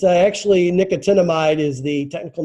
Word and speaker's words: nicotinamide: So nicotinamide. Is that part of nicotine? No, it just kind of sounds that way. It's actually nicotinamide is the technical name for B3.